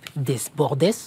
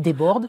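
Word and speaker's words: Jean-Philippe Desbordes: dernier de la liste Jean-Philippe des Bordes je le prononce mal Jean-Philippe déborde ah oui le le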